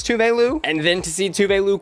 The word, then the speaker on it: Tove Lo: because I a peasant had just been saying Tove Lo the entire time I listened to her music and I was even more gag to see Eve tweet this out saying that's how you pronounce touveilu and then to see tubelu quote tweet Eve